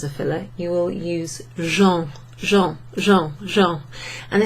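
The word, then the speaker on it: gens: filler you will use jean jean jean jean and it sounds like the word Jean g-e-n-s which means people you'll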